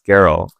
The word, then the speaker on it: Geralt: Is he Geralt? I think it's Geralt. I have not actually seen that. I'm going to nod my head and smile. But you have people named Gerald. So Geralt's name is spelled Geralt. You hear them pronounce it Geralt. Yeah. But in my mind, I see the word Gerald with a T, so like, it's just